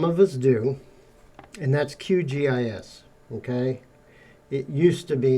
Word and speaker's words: QGIS: shortened it to qgis you'll hear people say qis and all that it's not that that's not how you say it it's it's called qgis pet peeve of mine